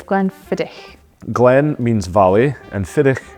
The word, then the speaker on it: Glenfiddich: Glen fidic and it's not Glen fidic it's Glenn fidic Glenn means Valley and fidic means deer so